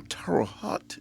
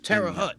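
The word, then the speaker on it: Terre Haute: Terote. You said you was in Indiana. I was in Terara Hut. Terra Hut. Yeah, I got the name wrong.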